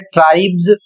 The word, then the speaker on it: tribes: पर आपको जो उच्चारण करना है वह ज उच्चारण करना है। तो यहां पर जैसे लिखा है ट्राइब्स, और ट्राइब्स का अर्थ होता है जातियां।